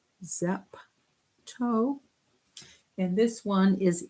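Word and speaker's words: zepto: helps me remember them this one is zap toe zap toe and this one is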